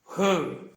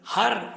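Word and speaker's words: her: മനസ്സിലാക്കുക ഷി അയാൾ അയാൾക്ക് ഹർ അയാളുടെ ഹേസ് അയാളുടേത് ഹ അയാളെ അയാളോട് അയാൾക്ക് ഹ എന്ന വാക്കിന്റെ ഉച്ചാരം ശ്രദ്ധിക്കുക അത് ഹർ എന്നല്ല she will find a good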